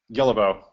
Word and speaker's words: Guillebeau: a challenge myself uh I pronounce it Gill about but I never correct anyone so we'll go with whatever you want well say it one more time just so I get it right yellow bow guilbeau all right Chris